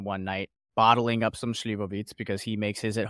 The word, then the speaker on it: Slivovitz: and they had glasses and a bottle of Slivovitz.